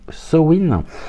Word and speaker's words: Samhain: alors sen qu'est-ce que sen S a m H i n qui se prononce SN et bien SN c'est